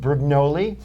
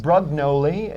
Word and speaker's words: Brugnoli: But I, fortunately, am happy to be speaking with Brugnoli. Pronounce it in the correct pronunciation for me? Brugnoli. Brugnoli? Yes. Well, I'm fairly close. That's close. Or Brugnoli, if some of you would like to pronounce it that way.